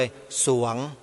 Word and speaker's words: สรวง: เวลา อ่าน ออก เสียง ต้อง อ่าน ส เสือ ตัว เดียว เลย สรวง แต่ เวลา เขียน ต้อง มี ร เรือ ด้วย อัน นี้ ขอ อนุญาต